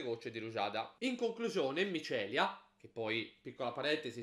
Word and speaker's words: Mycelia: di ruada In conclusione micelia che poi Piccola parentesi Spero non si pronunci ma Celia ma penso di no dovrebbe essere micelia è un gioco molto